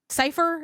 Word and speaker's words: Cifheur: Cypher is one of them. It's spelled Cifheur.